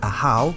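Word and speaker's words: ajaw: to the glyph this part is the word a-hou which means Lord this part is the word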